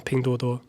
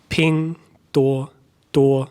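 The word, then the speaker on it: 拼多多: Pingduoduo, what's the tones on Pingduoduo? 都是第一声。 Pingduoduo. 多少的多。 Boom. Okay, so it's all the first tone. 对。 Pingduoduo.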